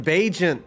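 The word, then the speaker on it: Bagent: bullets why because Tyson bent that's why bent which rhymes with agent the undrafted rookie out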